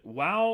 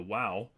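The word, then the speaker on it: וָו: have that H sound there's debate about is it wow or is it VAV and depending upon which pronunciation school you go with I subscribe to the wow so it corresponds to our W and then H there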